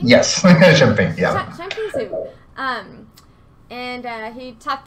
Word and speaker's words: Shunping: My name is Alexi Catlett, and I'm here to do a deck profile with Shunping. That's how you say it, right? Yep. Shunping? Yes. Shunping, yeah.